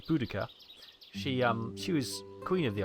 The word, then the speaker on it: Boudica: When I was at school, it was Boadicea, but they now say the pronunciation is Boudica.